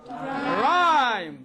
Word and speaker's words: rhyme: Now letter H usually it is silent in the combination R H. at the beginning Of a word. RH at the beginning of a word. For example, rhyme.